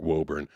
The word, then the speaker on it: Woburn: I grew up and it was w o b u r n and that obviously looks like Woburn like definitely looks like Woburn but for some reason or another it's called Woburn.